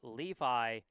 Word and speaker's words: Levi: Russel's first name is pronounced Levi like uh like the jeans I'd been pronouncing it lovey uh Levy that's my bad and